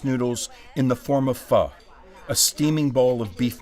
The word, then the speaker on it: pho: Often mispronounced, but immediately appreciated, pho is pronounced like fur with a soft R.